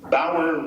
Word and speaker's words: Bauer: her recent PBS special, Bauer Rhymes with Flower.